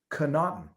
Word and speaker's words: Connaughton: let me see it george connaughton pronounced cannot phonetically thank you in saint augustine